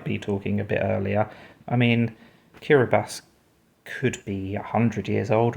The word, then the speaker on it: Kiribati: I had no idea that Kiribati, or Kiribati as I believe it's meant to be pronounced, used to be called the Gilbert Islands.